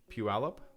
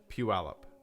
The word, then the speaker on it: Puyallup: How to pronounce Puyallup, Washington. Puyallup? Puyallup, Washington. Puyallup.